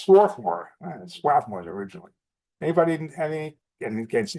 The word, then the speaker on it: Swarthmore: it's crossbody and swathmore I guess in in Philly they pronounce it swathmore and lands down well